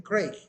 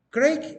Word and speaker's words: Craig: Se escribe C-R-A-I-G, Craig, o Craig, se escribe con G al final.